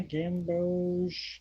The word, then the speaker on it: Gamboge: And then you have a more kind of regular the Gambog or Gambogi. How do you pronounce that? Gambog forest? Yeah, Gamboge.